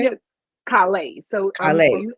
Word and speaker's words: Calais: Is it Calais? Yeah, Calais. So Calais. I'm from Louisiana, so that S is silent, so it's Calais.